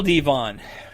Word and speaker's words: Devon: So he likes his name pronounced Devon, and Devon shall be his name.